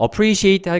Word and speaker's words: appreciate: 어 appreciate 같은 경우는 이때 발음교를 먼저 살펴보자면 여기 보면이 a를 거꾸른 형태인 거 있죠. 자, A를 거꾸로 만든이 형태의 모습은 어라는 단어의 발음인데요. 이거를 좀 약하게 발음하는 겁니다. 강세가 있지 않은 경우에 보통 사용되는 어, 작은 어,요 개념으로 이해하시면 됩니다.